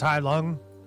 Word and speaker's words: Halung: The band Halung is pronounced Hai Lung with more of a U.